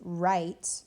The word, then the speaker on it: write: Now, with write and wrote and wrap and wreck and wrench, the W really doesn't change anything about the sound of the word because